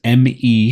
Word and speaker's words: ME: is an me storage it's pronounced me instead stands for matter energy matter energy is the